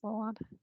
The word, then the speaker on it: Solon: We have Solon would like to speak. Sorry if I mispronounced your name. Is Solon? Yes, you got it.